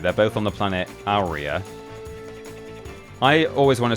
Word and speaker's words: Aurea: this game on YouTube also say Aurea or Aureus. But I'm pretty sure in one of the development videos, or actually even in a cutscene potentially, in this game, it's specifically pronounced Aurea, which is kind of weird.